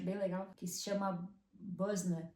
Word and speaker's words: Boesner: Aqui tem umas lojas, inclusive uma delas que eu acho bem legal que se chama Buzzner, se escreve Boesner, né? Nossa pronúncia, se não me engano, acho que é Buzzna.